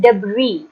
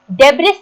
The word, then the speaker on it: debris: इसका मतलब होता है, इसको हम प्रोनाउंस करते हैं डेब्री। डेब्रिस नहीं बोलना इसको, ठीक है। इसको हम पढ़ेंगे डेब्री। एस साइलेंट है इसमें।